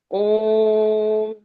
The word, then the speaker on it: ओम: और जब भी ओम अक्षर आता है तो उसका दीर्घ उच्चारण होता है हमेशा। ओम अथ सकल सौभाग्यदायकम।